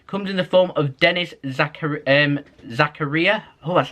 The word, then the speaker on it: Denis Zakaria: Comes in the form of Denis Zakaria, oh, that's how you say his name, of Borussia Monchengladbach.